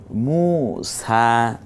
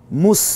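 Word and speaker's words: موسى: এটা কোরআনেরই আয়াত ইছা মুসা হ্যাঁ মুস বলবো না মুসা এই জবরটা সহ এক আলিফ টেনে বলবো ইউলা তগ এই শব্দগুলো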